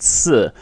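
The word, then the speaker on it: 四: as I know because it's pronounced similar to the word which means to die so just like in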